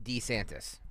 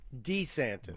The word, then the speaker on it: DeSantis: disantis news or U Gregory I correct my pronunciation on that what's the correct way to say his name DeSantis DeSantis DeSantis right or Des sanctimonious or D traitorous